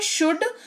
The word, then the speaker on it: should: same है ठीक है अगला शब्द है शुड उच्चारण का लॉजिक सेम रहेगा एस एच ओ यू एल डी लेकिन एल साइलेंट रहेगा तो उच्चारण का लॉजिक